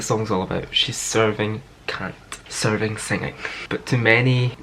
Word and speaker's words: Kant: I'm going to try and say it right and not say it the way everyone else has been saying it, but it's Kant. K-A-N-T.